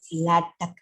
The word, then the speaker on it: LaTeX: Actual, your spelling is LATEX, but we can't say this latex, LaTeX or LaTeX. Okay, LaTeX or LAY hyphen tech, TECH, tech, or LaTeX. Okay, so this is the pronunciation of this word.